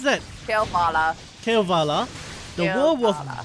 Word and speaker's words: Kalevala: How do you pronounce that? Kalevala.